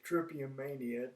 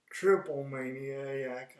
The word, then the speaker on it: Triplemania: to talk something about trippy armenia which is how you say it trippier mania not triple maniac i'm i've been saying